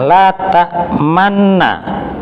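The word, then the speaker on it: لَا تَأْمَنَّا: La ta'manna. Nah, memonyongkannya juga sedang, dalam pengertian jangan kelamaan. La ta'manna. Oh, nanti jadi 4 harokat nanti. Juga jangan terburu-buru. La ta'manna. Malah kurang nanti.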